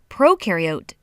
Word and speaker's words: prokaryote: is a big deal prokaryote the pro rhymes with no and they have no